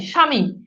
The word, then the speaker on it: স্বামী: আপনি যখন স্বামী বলেন তখন কি মফালা উচ্চারণ বফালার উচ্চারণ করে স্বামী বলেন? স্বামী বলেন না।